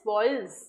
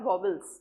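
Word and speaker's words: vowels: so vels and consonant that's a correct sound is voils not WBLS as voils and con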